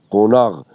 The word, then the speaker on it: قوناق: چطور نوشته میشه قوناق نوشته میشه قاف و نون الف قاف لکن اول قاف ازی قاف خوانده میشه دویمنا قاف ازی غین خوانده میشه من خبر ندارم که دونا قاف از ای چرا غین تلفظ میشه قوناغ مود پاتو هم